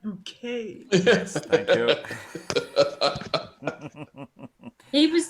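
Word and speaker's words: Buckett: Yes, Master Roland Bucket. It's pronounced bouquet.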